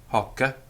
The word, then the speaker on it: hoc: peculiar in Latin because they are spelt with one C at the end of the word, but the Roman grammarians are quite clear that they are pronounced with a double C, particularly before a vowel. So hic, haec, hoc, meaning this.